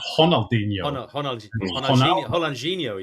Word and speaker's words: Ronaldinho: along I mean the other one is um Ronaldinho and Ronaldo oh yes it's honalo Hino yeah yeah but you